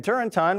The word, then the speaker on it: Turrentine: Democrat Dan Turrentine, rhymes with wine, agrees.